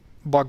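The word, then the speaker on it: Buh: Anyway, basically this was supposed to mean U sound. So this is Bug. The river is called Bug, not Bug.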